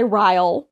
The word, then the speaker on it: Ryle: She meets this guy, Ryle, which is a name. Ryle? Spell it? Kyle, but with an R.